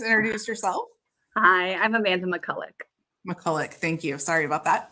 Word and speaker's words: Makulec: to have us uh joining us today Amanda Mula M I should have asked you how to pronounced your last name Amanda would you please introduce yourself hi I'm Amanda McCulla mullik thank you sorry about that class of 08